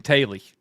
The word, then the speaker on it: Teulu: drilling me about saying Taily. And I was like, it's That's the right way to say it. I looked into it. Like, that is it. It's not an American or an English word.